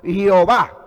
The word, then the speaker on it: Jehová: escritura lingüística europea entonces la pronunciación lingüística europea es jehová pero cuando se va a leer no se le jehová sino yo va porque para los lingüísticos o los europeos la jota aunque se escribe j el sonido es de y como y por eso